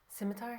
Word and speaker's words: scimitar: How do you pronounce that? Scimitar.